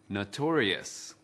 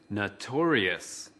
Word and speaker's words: notorious: Từ notorious có 4 âm tiết. Trọng âm của từ notorious ở âm tiết thứ hai.